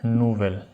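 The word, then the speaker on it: nouvel: VI, bell and नूवेल, इनकी दोनों की प्रोनाउंसिएशन सेम है।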